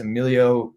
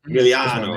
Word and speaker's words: Emiliano: I think it's Emilio Grillo. Is that what it is? Emiliano. Make sure I pronounce.